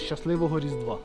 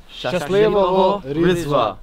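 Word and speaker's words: Щасливого Різдва: Shaslivoho Rizdva. Oh. Wow. Shaslivoho Rizdva.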